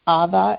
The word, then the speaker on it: Ava: And we have the name Ava, except we pronounce it Ava in Iranian.